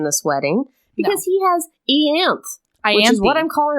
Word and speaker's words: Ianthe: I knew as soon as I said it that there was going to be a better pronunciation over in New Jersey. What is it? Ianthe.